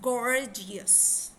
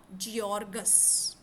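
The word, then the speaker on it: gorgeous: wrong manner how because it's गर्जियस इट्स गर्जियस नॉट जियोर्गस ठीक है गर्जियस जी ओ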